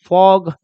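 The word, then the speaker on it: fog: Just like वैसे ये है, एफ को बोलेंगे फ, जी को बोलेंगे ग, और दो कॉन्सोनेंट के बीच में ओ आया तो ओ, तो क्या बन जाएगा, फॉग।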